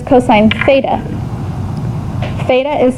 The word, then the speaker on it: theta: time it says cosine theta. Theta is spelled T-H-E-T-A. Theta, not theta with a S. That's a cheese. This is theta, okay?